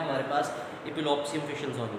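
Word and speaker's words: Epulopiscium: अब इसका प्रोनाउंसिएशन देख लें, इपुलोप्सियम पढ़ते हैं इसको, हम क्या पढ़ते हैं, इपुलोप्सियम फिशलसोनी।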